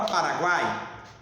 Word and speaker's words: Paraguai: Na palavra Paraguai, eu tenho o meu tritongo, porque foneticamente eu pronunciei o U, o A e o I quando eu falo Guai, ok?